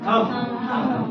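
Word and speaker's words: thumb: थम सबको मालूम है थम में ब नहीं बोलते थम ब नहीं है म तक का उच्चारण है थम इसलिए थम सब नहीं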